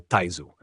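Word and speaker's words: Taizu: De fato, o fundador contemporâneo da dinastia Ming chinesa, Jon Jung, também é conhecido pelo mesmo título póstumo, pronunciado Taisu, em chinês.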